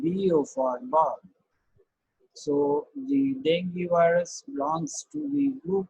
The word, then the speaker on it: dengue: is how it is it is pronounced dengue or dengue which one is the correct the is correct so the correct pronoun session is the dengue this is this is